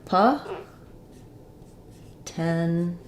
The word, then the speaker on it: potential: at potential um so we have stress on the middle syllable so we have awah potential and an sh sound um so sounds like Po tenal um so no T sound after the N um this T is